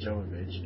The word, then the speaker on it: Jovovich: a bonus that it's m Jovovich and that's how it's pronounced so she because she's like Russian but said either way